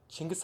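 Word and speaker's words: Chinggis: or five yeah 5 how do you guys pronounce janki's con Chingiz ah Ching Gaston chingus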